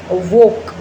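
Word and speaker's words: walk: है जिसे for example वॉक वॉक व ए एल के वॉक वॉक इसमें एल जो है वो साइलेंट है इसके बाद है एक्स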